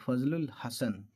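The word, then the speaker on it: فضل الحسن: भी है सैयद फजल फजलुल हसन लाम अलिफ साइलेंट हो जाएगा लाम पर चला जाएगा लामल लामल फजलुल हसन 18753 ला नामी एक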